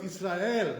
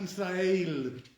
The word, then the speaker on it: Israel: For our custom, that's not A. It's not the A sound, like baseball, It's A. So therefore it's Israel, not Israel.